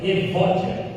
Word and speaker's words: Evódia: É assim que pronuncia. Evodia. Evódia.